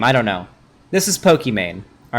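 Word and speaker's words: Pokimane: pokemane is or pokemon depending on how you pronounce apparently it was supposed to be pokemon early on because her name's aman and it's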